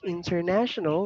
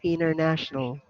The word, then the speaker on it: international: can pronounce it like international or you can say international without t that's silency what did